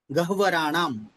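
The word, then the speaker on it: गह्वराणाम्: अब द्रष्टाम, हाँ जी, गह्वराणाम, गह्वराणाम, इस तरह इसका उच्चारण होगा। गह्वराणाम, ह पहले है और वह पूर्ण है, तो गह्वराणाम इस तरह उच्चारण होगा।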